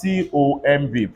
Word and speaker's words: tomb: If I have TOMB, pronounce it.